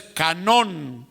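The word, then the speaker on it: κανών: En el griego la expresión es canón, con acento en la O, canón, y significa exactamente lo mismo, una vara de medir.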